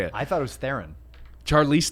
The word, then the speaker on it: Theron: I thought it was Theron. Charlize Theron? It's Charlize Theron. It's Theron, do they pronounce it like that when they say the it's movie?